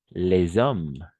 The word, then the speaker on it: hommes: Mais par contre, on va dire, par exemple, avec le H muet, les hommes, n'est-ce pas? Les hommes. On va faire la liaison, n'est-ce pas?